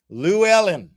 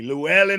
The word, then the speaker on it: Llewellyn: Lou Ellen. Excuse me, Llewellyn Harkness.